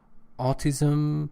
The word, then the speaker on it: autism: and diagnose I think it says something else autism sometimes you put this dress on the second syllable it's the first of all that receives distress carry my hope that